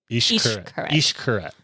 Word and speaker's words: Xcaret: The X makes a sh sound. Yeah. Xcaret.